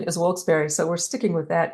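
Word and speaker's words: Wilkes-Barre: And I have been told, now that I'm new here, that the proper pronunciation is Wilkes Barre.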